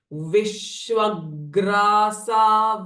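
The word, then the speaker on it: विश्वग्रासा: भ्रमण कारिणी next one again विश्व ग्र ग्र इ अ कंज साउंड सो हैव होल्डिंग और प्रेसिंग इफेक्ट विश्व ग्रासा विद्रो मा भा विश्व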